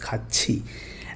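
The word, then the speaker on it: 같이: This khat is becoming ka, and here it is becoming chi.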